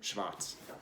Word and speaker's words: Schwarz: I think that's, how would you pronounce Schwarz in German? Like that? Yeah, Schwarz.